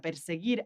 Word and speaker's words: perseguir: And interesting, this one, perseguir. So that doesn't sound like the previous sound, giraron. It sounds gir. So we need that U between the G and the I to make that sound gi, perseguir.